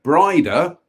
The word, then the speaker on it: Breda: The present mansion of Breda, pronounced Brida, with the emphasis on the second syllable.